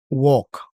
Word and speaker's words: walk: a s sí sí Walk Walk Walk Walk Okay Talk Talk conversar Talk Recuerden que la l en walky Talk ya no se pronuncia la l no se pronuncia ya se dice Wal